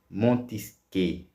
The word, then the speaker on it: Montesquieu: dos grandes pensadores chamado Montesquieu, né? Escreve Montesquieu, mas se pronuncia Montesquieu.